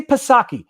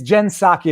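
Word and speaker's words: Psaki: i'm going to say pasaki it's pasaki for the rest of my life on the internet it's gen saki apparently it's a silent p but i like pasaki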